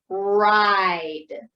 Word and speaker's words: ride: Okay, so now the E is silent, but it's making the I say its name. So let's tap this out. Again, this only has 3 sounds because the E is silent, but don't get confused with that I. Remember, I says its name. Here we go. Ready? So it's I-D. Ride.